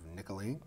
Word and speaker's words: Nicoline: new face here for greater Brockton I have nicolene did I say it right yes who